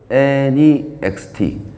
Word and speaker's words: NEXT: 이거를 넥스트라고 읽으면 안 돼요. NEXT.